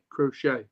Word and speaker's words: Crochet: crochet how do you say his name crochet crochet yeah well apparently the white socks are re